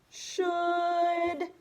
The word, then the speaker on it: should: wacky like that huh you've got a couple of extra letters in there that you do not hear so will you spell